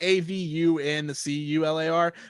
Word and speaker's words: avuncular: It's spelled like AVUNCULAR, but it just sounds like avuncular.